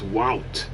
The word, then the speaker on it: Wout: And he told me it's like AU is in August, right? So it's Wout.